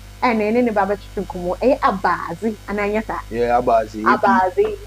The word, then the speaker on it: Abaazi: And then the baba chukumo, Abaazi, and Anyata. Yeah, Abaazi. Abaazi. ABAZI, almost spell it to do.